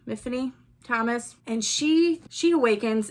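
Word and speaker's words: Myfanwy: I think character name it's mhany but it's spelled with a m y f a n Wy so nobody could pronounce it but she goes to Great pains to tell us how to pronounce her name so it's Tiffany with an M mhany Thomas and she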